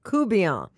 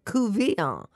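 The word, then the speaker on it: courtbouillon: There are definitely two schools of thought about how you pronounce coubillon. So you say coubillon, and you have it phonetically so in right. your book, Acadiana Table. And our good friend Isaac Toops, who also hails from over in that neck of the woods, he says couvillon.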